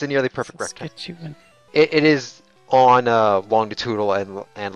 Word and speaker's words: Saskatchewan: Or nearly a perfect Saskatchewan rectangle? is how you pronounce it. It's a nearly perfect rectangle. Saskatchewan.